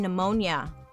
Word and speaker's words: pneumonia: Dark history of why there is a P in pneumonia.